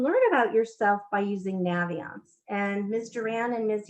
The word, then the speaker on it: Naviance: And by the way, the company pronounces it Naviance. They thought that was obvious when they made the name because they say you use it to navigate.